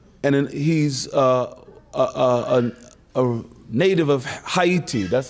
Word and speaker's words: Haiti: And he's a native of Haiti. That's how I said it. Did I say it correctly? Haiti, yes.